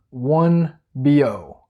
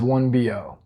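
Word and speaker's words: Biot: said was equal to one BO. And this is a French name, so that's why it's pronounced kind of funny, but the amount of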